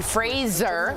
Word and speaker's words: Fraser: Brendan Fraser, which I found out is his name, you pronounce it like Razor, got a nod for